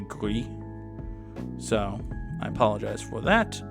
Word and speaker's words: Gris: I think I said Greece, and I think it's actually Gris.